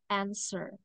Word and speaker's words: answer: Jadi, huruf W-nya tidak usah dibaca ya. Answer.